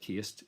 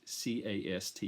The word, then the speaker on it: caste: reyes through the prism of what she calls cast some people pronounce it cased c a s t e cast and the caste system is when